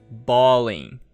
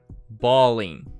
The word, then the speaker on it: balling: Balling, balling, mas a forma certa escrita é assim, com G, tá bom? Então, balling, balling, a pronúncia é a mesma.